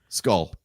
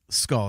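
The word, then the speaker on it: Skoll: place sorry what's the last name yeah I skull skull that's right SK k o l l yeah that's right sorry mispronunciation there I apologize um yeah like make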